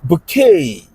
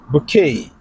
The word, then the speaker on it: bouquet: What about bouquet of flowers? Bouquet. Bouquet. The spelling ends with T but hey that T is silent bouquet.